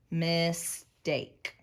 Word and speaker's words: mistake: it has two vowels it's got that bossy e bossy e is silent because it makes a say its name mistake great job let's mark